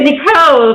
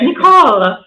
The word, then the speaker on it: Nicole: All right, so persons will notice she pronounces it Nicole. The rest of us would say Nicole, but she says Nicole. I thought about it last night. Is it French? Is that the French pronunciation?